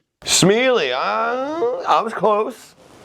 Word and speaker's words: Smeallie: It is Smiley. Smiley, huh? I was close. It was close. It's better than smelly. I'll take Smiley over smelly any day.